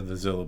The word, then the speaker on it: Zillo: Yeah, I think the Zillo beast or Xylo beast, we pronounce it both ways around here.